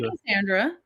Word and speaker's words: Cassandra: um so how do you how do you pronounce your name Cassandra I say Cassandra you do say Cassandra okay and then I